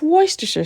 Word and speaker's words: Worcestershire: Okay, guys, not W sauce, not the W that you can't pronounce. It's Worcestershire sauce. It's so easy to pronounce.